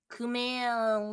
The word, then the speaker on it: Kumail Nanjiani: Kumail Kumail? Nanjiani? Yeah. Kumail Nanjiani. Kumail Nanjiani Steph. butt massage. Steph, say ku Ku. and then male.